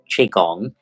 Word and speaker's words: Qigong: Qigong The reason why you pronounce it as Qigong is the QI. You don't pronounce it with the Q.